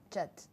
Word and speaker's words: Chat: J'ai bien prononcé? Chat.